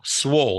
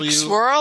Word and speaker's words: swole: Like "swollen," but with the--without the end. He's "swollen," no, "swole." Swirl, like like ice cream? No, "swole," like, like "swollen."